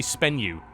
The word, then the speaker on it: Spenu: We thought it was like, is it Espenu? Is it Spenu? It's apparently Spenu is how you pronounce it. It's Spenu. Spenu, yes. Spenu. Okay. Like a bit of a, almost like a P sound.